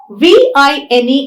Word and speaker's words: vine: of articulation ver in v i n e is a labiodental sound a labiodental sound is a sound that is produced when you bite the lower lip with your upper teeth right so wine and